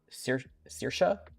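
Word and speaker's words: Saoirse: Uh Maddock is is not a particularly difficult name, but for example, we'll have Sir Circa and Siobhan, which are not spelled in ways that you would assume.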